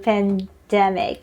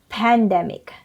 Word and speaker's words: pandemic: I have heard a lot people saying pandemic, but it should be pronounced as pandemic. Stress is on the second syllable.